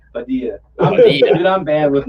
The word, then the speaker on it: Padilla: It's Padilla. Padilla.